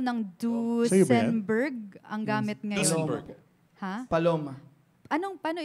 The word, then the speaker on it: Duesenberg: Duesenberg. Ha? Paloma. Anong, paano i-pronounce yun? Duesenberg. Duesenberg. Yeah. Duesenberg. So it's and Berg. Dalawa kasi yun ni si Duce at si Berg.